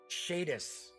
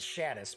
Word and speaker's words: Shadis: In fact, one of my favorites was Shadis. I always pronounce it Shadis, but John Zinzer, who was in charge of that magazine, and also is the big wig behind AEG, said it was pronounced Shadis.